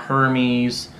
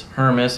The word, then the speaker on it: Hermes: pronounce that then correctly it's not hermès it's not hermes it's her miss i have a buddy